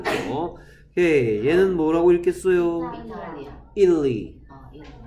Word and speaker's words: Italy: 이탈리. 우리는 이탈리아라고 하는데, 원래 영어식 발음은 이탈리.